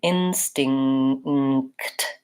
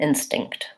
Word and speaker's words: instinct: And first syllable stress, so long and short, instinct. So even though this is the syllable that has the most sounds, many, many sounds there at the end, we are short on that and longer on in.